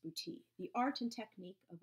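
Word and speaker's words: boutis: it booty and I know that's how it's pronounced booty the art and technique of a provincial treasure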